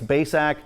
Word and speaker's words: Bacak: share with you just here's how you say my name it's baysack i'm from cortland ohio